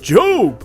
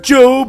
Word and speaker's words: Job: My favorite story about trusting in God is about Job. Oh, I don't have one of those. I'm a bum. Very funny. You know it's pronounced Job and not Job. Yeah, well, they're both spelled the same la-di-da.